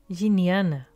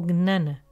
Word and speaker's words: Jnana: ainana yoga gana ou gnana como é pronunciada em diferentes partes da índia é yoga do conhecimento